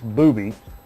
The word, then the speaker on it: Booby: Yeah, and, but Booby, as I've been instructed to pronounce, not Bubby, it's Booby.